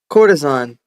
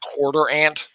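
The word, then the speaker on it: courtesan: Oh, that's how you pronounce that word. Cortisan. Oh, yeah. No, no, I know. I know. What do you think was pronounced? Quarter ant.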